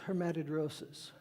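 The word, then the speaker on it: hematidrosis: ground there is a word for that it's pronounced herad rosis and it's a condition in which capillary blood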